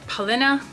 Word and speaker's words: Paulina: what paulina says from paulina beauty or polina is how you pronounce it in swedish and um so she